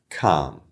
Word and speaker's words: calm: say it that said the majority of the english- speaking world will say these words without the L in it so I'm from Australia the way I would pronounce these words would be Cal Bal palm and salmon